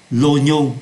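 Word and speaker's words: oignon: là của hành tây Đây là một trường hợp đặc biệt về phát âm ô v y là oa nhưng ở đây chúng ta phát âm là lô lô nhô không phát âm là oa l quo Là tỏi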